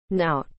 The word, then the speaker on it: knout: used for flogging prisoners now is spelled k n o u t now you